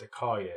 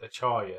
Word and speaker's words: Acharya: it says well and a car year is not pronounced a car yet it pronounced Acharya so we've been pronouncing it